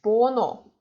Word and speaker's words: 번호: So we don't read h. We write it down, but we don't read it. So it's 번호.